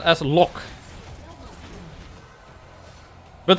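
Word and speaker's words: loch: i could do it look i said as a lock but the scottish one that that's not pronounced as look right it's not with a heart gay at the end i mean or maybe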